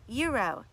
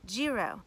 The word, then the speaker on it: gyro: The G is silent, you guys. It's pronounced gyro and not gyro.